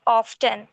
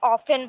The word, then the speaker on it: often: স্যার you just said অফটেন, বাট আমরা সবসময় শুনে আসছি যে অফটেনটাকে আমরা অফেন বলে প্রোনাউন্স করি। Should we pronounce it অ্যাজ অফটেন অর অফেন? You can pronounce both, no problem nowadays.